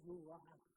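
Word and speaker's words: רוּחַ: Así que la perfección de los santos, hermanos, es es el rug en hebreo. Así es como se pronuncia el rugan de Dios,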